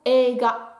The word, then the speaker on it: eiga: On est censé le prononcer comme ça et non pas sensei. Donc sensei. Et le deuxième, c'est le mot eiga qui veut dire un film.